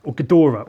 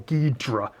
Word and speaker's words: Ghidorah: really Oh King Ghidorah Ghidorah or ghee draw or however you want to pronounce it my favorite of the